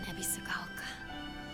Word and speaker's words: Ebisugaoka: I don't think it's ever been this quiet in Ebisugaoka. It's really beautiful. That's how you say it.